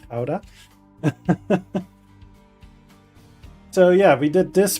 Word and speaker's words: Gouda: One of them that's known for a while around the world is Ka, which people pronounce as Gouda, but it's Kha.